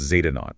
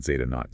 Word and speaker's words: Zeta Naught: Z0, and it's pronounced Zeta Naught. Let me say that again, Zeta Naught, Z-E-T-A, N-A-U-G-H-T.